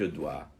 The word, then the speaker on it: doigt: chaque pied à cinq doigts insync audi a5 douvres cinq doigts on prononce de la même manière doit au singulier au pluriel un doigt de doigts